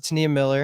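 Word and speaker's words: T'Nia Miller: But shout out to Tania Miller. Is that how you pronounce it, Jimmy?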